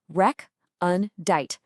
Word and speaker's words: recondite: Okay, our first word is recondite. You say it like rec-un-dite.